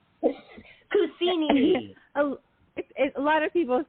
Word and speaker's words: Cousino: Cousini. A lot of people say that. They say Cousino from Las Vegas, but it's okay. It's Cousino, actually, Cousino.